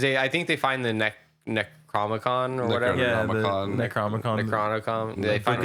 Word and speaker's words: Necronomicon: They don't say necro. I know it's the necro whatever part. It looks like that, but in the movie they don't pronounce it that way. It's Necronomicon. Necronomicon.